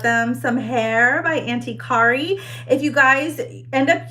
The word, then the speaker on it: Kari: some hair by Auntie Kari. If you guys end up using my rooting artist, her name is actually Kari, not Carrie. It's spelled C-A-R-I.